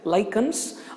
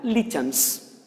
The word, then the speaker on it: lichens: Same way, we have come across one more example in first year, lichens, or you can pronounce it as an lichens. Lichens or lichens.